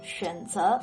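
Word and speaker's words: 选择: In the third tone, 选择 means choice or to choose. Every day you have to make a lot of 选择 choices.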